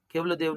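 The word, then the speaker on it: Keoladeo: ಹೇಳಿ ಕೊಟ್ಟಿದ್ದಾರೆ spelling okay ಇದನ್ನ ಉಚ್ಚಾರಣೆ ಕೆವಲೋ ದೇವ್ ಕೆವಲೋ ದೇವ್ ಅಂದ್ರೆ ಏನು ಒನ್ ಗಾಡ್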